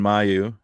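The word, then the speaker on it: Mailloux: Uh, we've got a trade Logan Mayu from Montreal. Logan Yeah. Malu. Mayu, I think. I believe it's pronounced Malu.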